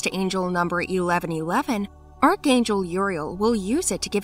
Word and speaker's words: Uriel: His name Uriel is a male name of Hebrew origin, pronounced Uriel, which means God is light or light of God.